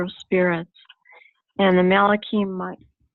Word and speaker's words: Michael: Spirits, And the Malachim, Michael, how do you say that one? How are you guys pronouncing that one? I'm not saying Michael. Michael or Mikael. Mikael? Mikael.